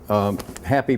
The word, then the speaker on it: Happy: I was called, and we lived in Mexico, and J is pronounced Ha, and P is pronounced Pei, so I was Happee, and I became Happee.